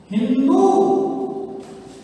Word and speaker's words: हिंदू: सी का उच्चारण किसने होता था? ही। अतः सिंधु को कहा हिंदू, और सिंधु को क्या बोले?